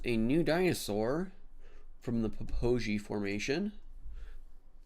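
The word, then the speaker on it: Popo Agie: And this is a new dinosaur from the Poi Formation because apparently that is how you say that. It's not Popo AI, it's Poi.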